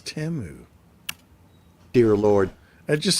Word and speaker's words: Temu: Hey, you know what I've noticed is that we've all been saying it wrong. They've got some ads now where they are saying their name. It's not Timu, it's Temu.